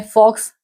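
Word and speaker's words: Fuchs: बड़ा ही आसान है य लोग कहते हैं उसको फुक्स और ऑक्टोपस उसको कहते हैं ऑक्टोपस फॉक्स में आप देख रहे हैं कि इतना ज्यादा फर्क नहीं है एक फॉक्स की जगह फुक्स इसी तरह से ऑक्टोपस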